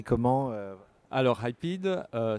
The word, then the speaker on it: Hypeed: Ça s'écrit comment Alors, Hypeed, ça s'écrit Hypeed. C'est comme hype et speed, rétracté en un mot.